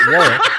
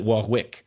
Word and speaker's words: Warwick: I mean, you can pronounce it however you like, really. We call it Warick. Um, okay. No, I I say this because we call it Warick in the UK, the the double silent, but